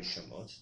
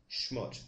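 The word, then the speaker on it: שמות: Al tikre shamot, do not pronounce shamot, devastations, ela, shmot, rather say shmot, names.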